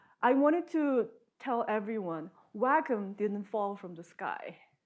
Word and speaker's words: WACCM: He said the whole atmosphere community climate model has to be pronounced as WACCM.